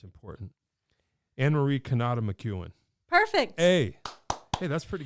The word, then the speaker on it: Anne-Marie Cannata McEwen: get this right because it's important it's important Anne-Marie Canada McEwen perfect hey hey that's pretty good I do